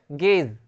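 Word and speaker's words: guess: वो साइलेंट रहता है, जैसे गेज, गेज, जी E double S, यू जो है साइलेंट है यहाँ पे, इस यहाँ पे यू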